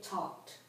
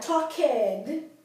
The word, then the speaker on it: talked: You don't add an extra syllable unless the verb ends in a T or a D. Right? So it's I, you, we, they, he, she, it talked. That ED becomes part of that word. It doesn't become a separate syllable.